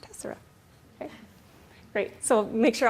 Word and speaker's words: tessera: And sometimes people want to call it tessera, but here's your opportunity to say, no, I actually attended a presentation. It's pronounced tessera.